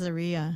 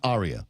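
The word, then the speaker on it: Ariya: the commercial on YouTube so it's Aria she says Aria not Arya because I almost said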